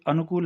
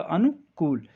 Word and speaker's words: अनुकूल: हाँ, ये वाला नहीं है, ये अनुकूल है जिसमें छोटा नू और बड़ी कू आती है, क्योंकि देखिए उच्चारण तो होना चाहिए अनु छोटा ऊ और कूल बड़ा ऊ, ये ध्यान रखिएगा, अनुकूल।